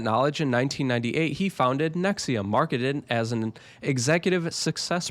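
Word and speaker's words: NXIVM: This is the story of Nexium. I know it doesn't look like that, but that's how it's pronounced.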